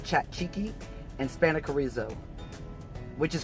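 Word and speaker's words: tzatziki: got Greek chicken with is that Zekey sauce but I think the Greeks pronounce it chat cheeky and spanic arezzo which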